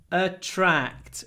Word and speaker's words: attract: and we have TR when we pronounce TR it becomes like a CH to attract to a